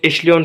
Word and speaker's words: echelon: कुछ लोग इसको इक्लियन फॉर्म कहते हैं, कुछ इक्लियन फॉर्म कहते हैं। बोथ आर करेक्ट, क्योंकि कुछ जो हमारे पास प्रोनाउंसिएशंस होती हैं वो अमेरिकन होती हैं, कुछ ब्रिटन होती हैं।